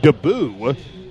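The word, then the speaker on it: Deboue: by ron debut deboe d-e-b-o-u-e and it's pronounced daboo and he's in the backfield penetrating and the junior linebacker will spill garbage for the loss of two to the 34 off right tackle daboo he just sat there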